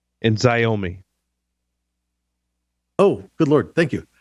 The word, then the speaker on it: Xiaomi: How do you pronounce that? It's Hikvision and Xiaomi.